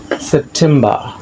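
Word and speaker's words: September: শব্দের শেষে আর থাকলে সে আর এর উচ্চারণ হয় না।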